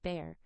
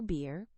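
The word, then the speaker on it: Bhaer: It isn't pronounced either bear or beer as people will say it, but something between the two as only Germans can give it.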